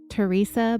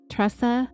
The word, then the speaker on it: Tressa: The documentary also interviewed other Connections attendees, a woman named Tressa, but I think Sherry pronounces it Teresa, but it's Tresa, Tressa. I'm going to say Tressa.